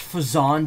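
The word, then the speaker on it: Phazon: here but guess not it's pronounced fazon dumbass no you got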